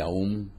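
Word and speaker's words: Aum: el verbo solar aú ese aú se pronuncia om el mantra yoga fue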